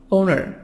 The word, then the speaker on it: owner: for money landlord landlord owner owner American British owner who makes the are silent in in British accent Anamika sound of schwa awesome ona ona ona